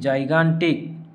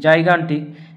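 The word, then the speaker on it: gigantic: এন টি আই সি, জাইগান্টিক। এখানে জি এর পরে আই রয়েছে জন্য জি এর উচ্চারণ হলো জ, কিন্তু এখানে জি এর পরে এ রয়েছে তাই হলো গ।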